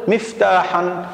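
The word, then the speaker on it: مفتاحًا: إذن تنوين النصب يحتاج إلى ألف، وهذه الألف تكتب ولا تلفظ، تكتب ولا تلفظ، لذلك نقول مفتاحا.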